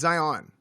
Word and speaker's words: Zion: Yeah, just Zion. It's Zion. I mean that's how I pronounce it. Zion. I thought he said there's Zion. no on. Zion, like lion, right? Zion like Ryan.